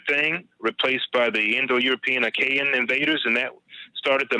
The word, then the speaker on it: Achaean: And once the Minoans gave way to the Indo-European Achaean, I believe that's how it's pronounced, it's spelled Achaen.